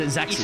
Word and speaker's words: Isaacson: Isaacson. Is it Isaacson? That's it. I gotta pronounce the I like it's a capital.